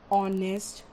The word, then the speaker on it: honest: That is why the words like honor, honest, are, they start with not H because H is silent there. They start with the sound O, and we use before them an instead of using a.